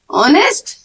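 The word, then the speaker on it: honest: और जैसे कि मैंने लिखा डैश, इसे कैसे प्रोनाउंस करते हैं, ऑनेस्ट। अब ये क्या है, ऑनेस्ट मीन्स क्या साउंड आ रहा है पहले, ओ का, ओ भी हमारा किस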